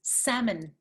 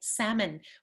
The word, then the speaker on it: salmon: is no l it's salmon okay salmon we do not pronounce the l and the second vowel is the weak vowel schwa salmon and you can